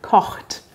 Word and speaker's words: Koch: einfach ein mensch der kocht und was gibt es besonderes an der aussprache koch das ist ein kurzes oh man sagt also nicht hoch und das ch am